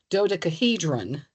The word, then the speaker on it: dodecahedron: In chemical news, we progressively disappear the faces of the dodecahedron. Is that how it's pronounced?